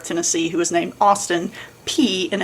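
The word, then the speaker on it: Peay: Let's go pee cuz it is the athletic motto and it is P E A Y.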